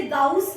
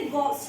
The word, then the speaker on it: Gauss: हिंदी में हम इसे गाउस का नियम कहते हैं, इंग्लिश में हम इसे गॉस लॉ कहते हैं।